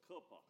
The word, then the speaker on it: Cooper: It's Cooper, just like it's spelled.